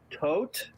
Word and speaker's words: Tod: But it's called O Tot, which in German is spelled T-O-D.